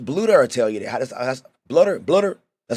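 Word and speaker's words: Bluder: you that coach BL tell you that BL blutter that's how you say her name Lisa I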